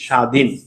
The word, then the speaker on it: স্বাধীন: কর আমাদের স্বাধীন বাংলাদেশ স্বাধীন আচ্ছা ভাইয়া এই স্বাধীন আর বয়টার উচ্চারণ কি হয়েছে বলতো বইটার উচ্চারণ হয় নাই কিন্তু বইটা লিখেতে আসছে তাহলে প্রিয় শিক্ষার্থী বন্ধুরা